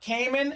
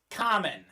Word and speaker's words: Kamen: It is not Kamen. It is not Kamen. It is Kamen. It is Bulgarian.